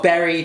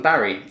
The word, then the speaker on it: Barry: When it comes to our berry tasty, get it? Berry tasty? No, some of you guys actually call me Berry rather than Barry.